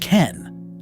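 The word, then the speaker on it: 剣: See, the Japanese kanji for sword is pronounced ken. And guess what? The kanji for fist is also pronounced ken. Totally different kanji, but the exact same reading.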